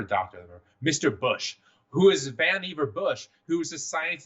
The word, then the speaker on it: Vannevar: Right, but Vannevar Bush, whose name rhymes with Beaver, by the way, he had a whole thing about that in his childhood.